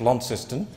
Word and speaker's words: Launceston: the minister aware that the town launceston is pronounced launceston uh secondly if uh